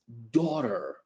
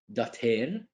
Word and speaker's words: daughter: So Jasmine is Maria's daughter. Jasmine is Maria's daughter. Repeat. Daughter, not dater.